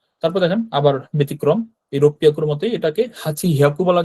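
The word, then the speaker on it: 六百: আর এই ছোট সুটা দেওয়ার পরে এই পরের যে অক্ষরটা থাকে সেটা ডাবল উচ্চারণ হয়, তাই না। তো রোপিয়াকু হয়েছে। তো রোপিয়াকু কথাটা আলাদা করে মনে রাখতে হবে, যে রোকু হিয়াকু হবে না, রোপিয়াকু হবে, অর্থাৎ যেগুলো ব্যতিক্রম ওগুলো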